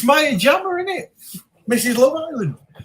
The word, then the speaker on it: Maya Jama: Maya, is it? It is. It's Maya Jama.